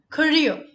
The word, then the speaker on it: career: Career. Career, not carrier. Carrier is something that you have at the back of the cycle. It's career. Starts with the sound of k, not k. Also, the last letter R, where you roll your tongue, is silent. So it's not career, it's career.